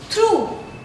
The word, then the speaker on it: through: Last word के pronunciation में this word is throw. O. The last sound is coming O. And here what I am saying through. The last sound is U.